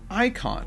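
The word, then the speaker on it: eikon: and it's did you it's an Antiquated spelling of Icon okay so it's pronounced the same way even it's just spelled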